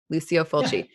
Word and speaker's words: Lucio Fulci: So is it Lucio Fulci? Is that how you say his name? Lucio Fulci.